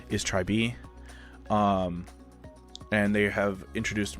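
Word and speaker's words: TRI.BE: to form a new girl group um the pronunciation of said group even though it looks like it spells tribe is try b um and they have introduced more members um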